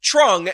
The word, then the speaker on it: Truong: but TR equals TR this man should be pronounced Trung and I think honestly